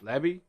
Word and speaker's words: Lebby: Jeff Lebby, Lebby, Lebby, Lebby, Lebby, by the way.